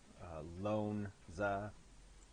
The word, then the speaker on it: L'Onza: And I pronounce it Lonza.